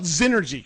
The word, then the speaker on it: Xnergy: question for you so so first of all zenergy correct yes okay so so because that's spelled with a with an X by the